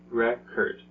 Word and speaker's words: record: just felt the same they both have two syllables but they're two different sounds why it's because of words dress okay so in remember